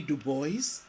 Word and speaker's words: Du Bois: legend william edward berger dubois more popularly known as w.e.b du bois and yes du bois not dubois and been faithful to the way he pronounced his name w.e.b dubois was a